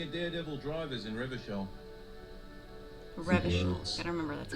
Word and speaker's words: Revachol: Revachol.